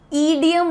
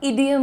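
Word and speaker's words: idiom: वाला अच्छा एक चीज इडियम ना बोलिएगा इडियम होता है। द प्रोनाउंसिएशन इज छोटी इ जैसे इडली बोलते हो इडली तो नहीं बोलते राइट इडली वैसे ही इडियम इडियम आपको बोलना है।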